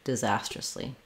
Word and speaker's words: disastrously: um for disas ously start on the Zas and it'll help you and this is a z zastrus disastrously for acumin just short